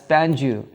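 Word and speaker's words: Pangaea: been fewer predators geologists apply the term Pangia from the Greek words meaning all Earth and usually pronounced as pangu to the supercontinent that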